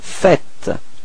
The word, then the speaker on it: faites: Logically, we could put this vous faisez, but then no, it's vous faites. Okay, keep in mind that final S is not pronounced.